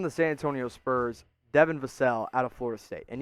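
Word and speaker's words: Vassell: the pick from the san antonio spurs devon vasel out of florida state and yes it's pronounced vasel not vassal as i was so mistakenly wrong about for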